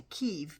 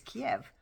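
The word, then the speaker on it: Kyiv: Back in the day it was called Kiev, but they changed it to Kiev because Kiev was the Russian pronunciation.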